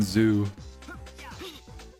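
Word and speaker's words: Zu: thing but the but because it sounds like do it rhymes with do it's the Mountain Zoo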